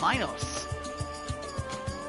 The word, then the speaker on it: Minos: The bull of uh the bull of Minos or Minos depending on your pronunciation. I've always said it as Minos myself.